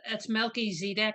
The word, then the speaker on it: Melchizedek: This Melchizedek, that's actually, we call him Melchizedek because that's how we pronounce it, but it's Melchizedek because the term Zedek means righteousness, and Melech is the king.